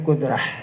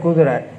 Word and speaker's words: kudrah: Seperti kita kata, wajib bagi Allah Ta'ala bersifat dengan kudrah. Maka arti wajib bagi Allah bersifat dengan kudrah. Kudrah ini ya, bukan kudrat. Karena dia tamar butuh.